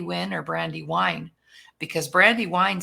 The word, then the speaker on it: Brandi Wyne: if it's Brandy win or brandy wine because Brandy Wine sounds really good together so good morning Brandy